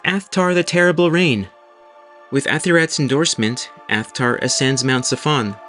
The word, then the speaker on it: Athirat: El, the high god, asks his wife Asherah, or Athirat as it is pronounced in the Ugaritic language, who should take Baal's place.